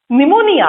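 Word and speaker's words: pneumonia: पी से spelling था निमोनिया. पी is silent, right?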